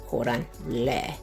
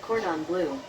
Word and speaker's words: Cordon Bleu: Here are 4 tips that should help you perfect your pronunciation of Cordon Bleu. Break Cordon Bleu down into sounds. Ca plus don plus blur.